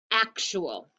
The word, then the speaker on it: actual: And here's our last syllable. All. Actual.